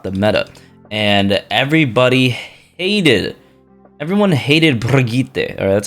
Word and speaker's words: Brigitte: And everyone hated Brigitte, or that's how you pronounce her name apparently. It's Brigitte.